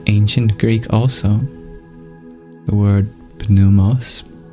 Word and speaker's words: pneumos: Greek also the word p numos nowadays the p is silent doubles as a word